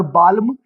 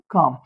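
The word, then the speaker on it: calm: तो it will not बी बालम और बालम, इट विल बिकम बाम और इट विल बिकम काम। ऐसे ही यहाँ पर अगेन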